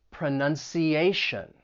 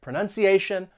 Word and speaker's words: pronunciation: So words that end in T-I-O-N or S-I-O-N, it's pronounced as shun, but the stress is going to come on the syllable before. Pronunciation, comprehension.